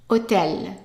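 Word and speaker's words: hôtel: have a word that starts with an H the H is silent and the O in French is pronounced o so it's short o o and then we have tell just like English otel otel and it's a masculine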